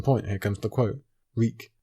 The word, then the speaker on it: Reek: here comes the quote reek my name is reek it rhymes with bleak he had to remember